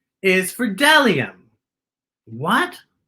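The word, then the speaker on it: bdellium: a b is for dellium what b d e l i dellium we doubt anyone knows what dellium is but it's the only word dumb enough to begin with a silent b how about c c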